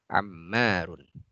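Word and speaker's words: عمار: Jadi ini kita bacanya Anasun, ini kita baca Ammarun. Ya, kalau Umar bagaimana menulisnya? Umar ya, Umar tanpa alif ya, Ain Mim Ra Umarun ya, tanpa alif ya. Kalau ada alifnya di tengah kita bacanya Ammarun ya.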